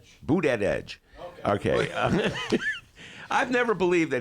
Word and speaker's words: Buttigieg: How do you pronounce Mayor Pete's last name, D? Buttigieg.